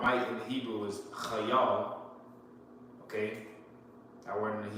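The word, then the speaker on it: חַיִל: So he said, saying not by might, okay, and that word might in the Hebrew is chayal. Okay? That word in the Hebrew is pronounced chayal.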